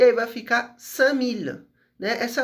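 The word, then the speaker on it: cinq mille: Se eu quero falar 5000, eu vou juntar sang com mil e aí vai ficar samil, né? Essa é a pronúncia do sangue.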